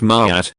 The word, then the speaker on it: Ma'at: Pronounced Ma'at, this single word encompasses a vast tapestry of ideals: truth, justice, balance, order, harmony, law, morality, and cosmic rightness.